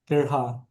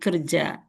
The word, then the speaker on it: kerja: So they're influenced by the J of the Spanish. So Yeah, that's why they right. pronounce Balahar and then Kerha. Okay, I recognize that one. So it should be belajar, but it's okay. Belajar and kerja.